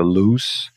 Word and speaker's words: loose: Esse é um adjetivo, não tem como variar para NG, pronúncia loose. Esse é com o só pronuncia lose. Dá uma vibradinha aqui, vai tirar fora o e você vem aqui, ó, gamble e risk losing money.